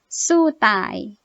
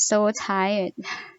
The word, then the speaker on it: สู้ตาย: something like that and the other word is in Thai It's like สู้ตาย Is sometimes I think maybe some foreigners might mispronounce it as so tired.